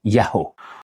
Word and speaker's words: Yaho: Donc le nom Yahvé souvent prononcé, Yahvé, Yéhova, peu importe. Comme je vous ai dit et comme vous allez voir, sa véritable prononciation c'est Yaho.